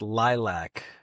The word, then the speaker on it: LYLVC: That's pronounced lilac.